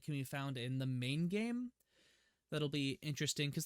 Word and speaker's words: Mai: I guess it could be pronounced either way. I'm going to pronounce it Mai. Mai is in charge of